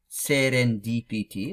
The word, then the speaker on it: serendipity: So it's read in an uninterrupted way, как, as, serendipity, like in Russian. С ударением. Ударение means emphasis. So с ударением means with the emphasis. С ударением на D, with the emphasis on D.